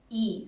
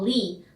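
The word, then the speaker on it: 이: is different though because in korea lee that we say in english is actually pronounced as ee so iso for example yeah you say these are yeah we in north korea we call li not e the pronunciation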